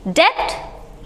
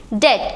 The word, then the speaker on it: debt: अब इसको आप क्या पढ़ोगे? डेप्ट? नहीं, डेट, क्योंकि यहाँ भी क्या है? बी साइलेंट है।